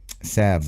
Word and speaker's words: salves: Online, salves, I think. You don't pronounce the L.